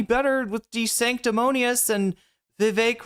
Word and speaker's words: Vivek: And so anyway, so like that was not that 2020 was any better with De Sanctimonious and Vivek rhymes with cake.